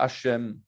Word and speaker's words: Hachem: Alors, c'est quoi Hachem? Eh bien, c'est Shem, comme ici, mais avec la lettre He devant.